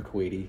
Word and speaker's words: coati: The Procyanid family of vertebrates also includes the kinkajou, the cacomystil, aka ring-tailed cat, and the coates, pronounced coates plural or coati singular.